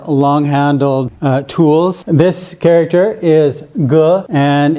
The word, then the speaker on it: 戈: So this is called a dagger axe, pronounced Ge.